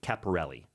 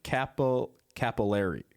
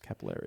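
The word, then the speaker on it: Cappelleri: a technical analyst called Frank Caparelli. How'd I do there, Mark? Not good. Okay. Not good. Jenna. No, I think you did do good, actually. I'm losing lift on that pronunciation. Frank Capillari. Capillary? I got close.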